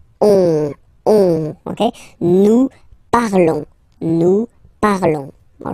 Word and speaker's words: nous parlons: Nous parlons, okay? Remember, final S is not pronounced, okay? And then this O-N together, they will give you the sound on, on, okay? Nous parlons.